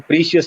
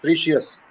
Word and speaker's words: precious: Now, let me correct you on a word. It's not precious. Mm. It's precious.